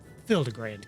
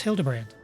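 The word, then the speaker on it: Hildibrand: I've searched every alley and dive bar in Everkeep for signs of this Hildigrand character. It's pronounced Hildebrand.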